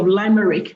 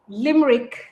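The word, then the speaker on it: Limerick: Subsequently, she obtained a master's degree in journalism and a Cambridge SELTA certification, both from the University of Limeric. Is that how it's pronounced? Limmerick.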